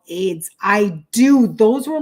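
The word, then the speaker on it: Ayds: anybody remember let's see what we got okay pronounced as AIDS it's an appetite suppressant Okay so here we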